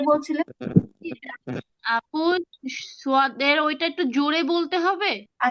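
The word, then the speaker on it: صاد: ওই সিনের মত হচ্ছে সদ হ্যাঁ এটা আবার বাতাস বের হবে না ওই যে শিন এরকম উচ্চারণ হবে না সদ সদ সদ সদ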